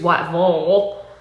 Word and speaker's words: Whiteville: It's in a place spelled Whiteville, but it is produced Whiteville.